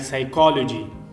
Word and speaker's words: psychology: So the P is at the first is silent, like psychology. So the psychology also have a P.